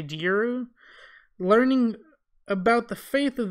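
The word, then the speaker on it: Djeru: new crop headed by Jeru. I hope I'm saying that right. It's spelled D-J-E-R-U, so I'm going to say Jeru.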